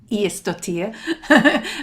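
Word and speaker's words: Ægisdóttir: I mean, Nikki and Sean were absolutely delightful, and Stuart, Neville, and Eva Björg Iestottir. And I think I did actually pronounce it correctly. I checked it with her.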